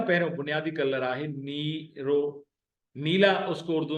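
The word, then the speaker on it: نيرو: तो उसको बोलते हैं सिंधी में नीरो। नी, नून और ये जेर के प्रोनाउंसिएशन के साथ मिले हुए, नी, रे और वाव जबर के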